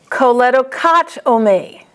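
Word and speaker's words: choledochotomy: Choledocotomy. CHOT is the accent.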